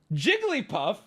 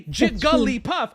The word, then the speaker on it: Jigglypuff: at you with both it's three the answer is three and if you say four you are adding in an additional syllable when it is three it is not four there is no debate I'm starting to get mad already Jigglypuff has three syllables even if I say Gully puff I'm adding that in I'm pronouncing it a different way but objectively it still